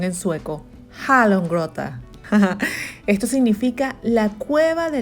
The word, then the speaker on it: Hallongrotta: A ver cómo está mi pronunciación en sueco. Hallongrotta.